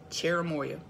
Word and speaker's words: cherimoya: cherimoya CH ER I am Oh y8 it's pronounced chair uh boy yep cherimoya so some people say CH ER I blah